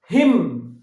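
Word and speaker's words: hymn: হিম, এর উচ্চারণটা কি হিম, এনটা উজ্জ আছে, হিম মানে কি স্তোত্র, হিম মানে কি স্তোত্র, তাহলে এইচ ওয়াই এম এন, হিম, এনটা উজ্জ আছে, স্তোত্র।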